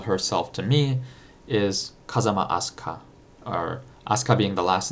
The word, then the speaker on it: Asuka: Asuka, A-S-U-K-A, Asuka, Asuka, in the Japanese pronunciation, which is a Japanese name.